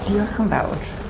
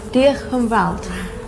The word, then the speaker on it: Diolch yn fawr: Diolch yn fawr. Diolch yn fawr.